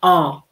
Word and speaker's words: 어: And it's pronounced 어.